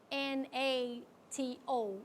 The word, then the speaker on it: NATO: It's not pronounced N-A-T-O, we say NATO.